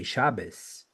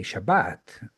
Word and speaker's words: Shabbat: of each okay so they tend to pronounce like Israelis pronounce Hebrew so they they will never say shabas they say Shabbat yam they say yam